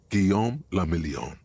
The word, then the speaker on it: Guillaume le Million: Guillaume le Million. Guillaume le Million. Eh? If it doesn't rhyme, you're not pronouncing it right.